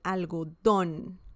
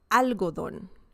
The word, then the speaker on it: algodón: Okay, el algodón, el algodón, el algodón. Remember the intonation. When you see an accent mark, the intonation is stronger. Okay, it's not el algodón, it's el algodón.